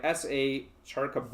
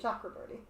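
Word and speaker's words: Chakraborty: Uh this by SA Chara I'm probably Shakraorti. Chakraorti. There you go. See, I knew I'd pronounce it wrong.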